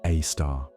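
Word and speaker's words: Sagittarius A*: At the heart of it all is a monster, a super massive black hole called Sagittarius A, pronounced a star.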